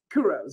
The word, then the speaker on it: Couros: Couros. Am I pronouncing it? Yeah, it's Georgia Couros.